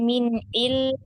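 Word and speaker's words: مِنْ عِلْمٍ: Itu tadi yang min ilmi atau min ilmi yang bacanya Ustazah yang Dialirkan ya, dialirkan lamnya dulu ya, baru disukunkan mimnya.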